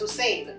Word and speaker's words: Hosein: a couple times because it's pronounced Hussein. Okay. And so everyone wants to spell it with a U. There you and go. there's no U in Hussein. Yeah, no U there.